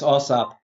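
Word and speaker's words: AAWSAP: Back to the work you were doing with the, would I pronounce it AWSAAP? Yes, AWSAAP.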